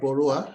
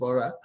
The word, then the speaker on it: Borah: name is border it's not borrower my name is borah anyway i'm sorry i'm